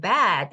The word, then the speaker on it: bad: bad 그러면 그게 이제 아까 나쁜이라는 발음으로 bad 발음할 때는 bad 이렇게 하면서 목구멍 쪽을 더 길게 이렇게 크게 열어야 돼요.